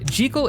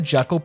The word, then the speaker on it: Jekyll: And yes, even for how weird it feels to say, Jal is apparently the correct pronunciation according to the original author. Although, since the Jekal pronunciation was popularized by the 1931 film adaptation,